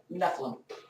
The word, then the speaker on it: Nephilim: there but still files is it neum or Nephilim how's that pronounced nephlim my character is a Nephilim but that doesn't get